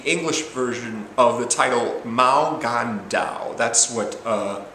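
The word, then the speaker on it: 無間道: Infernal Affairs is the English version of the title Mao Gan Dao. That's what it's called, basically. That's its proper pronunciation in its native country.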